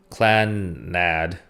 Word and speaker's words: Clannad: properly pronounce this show it's CLA and nad Klan nad so that's that so